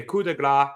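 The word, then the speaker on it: coup de grâce: up Dom on that table and hit a coup de grace, which is how you pronounce it, Michael Cole, through the table and pinned Dom for the win.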